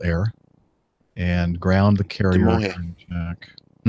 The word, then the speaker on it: Damojh: Demoje. It's pronounced like an H.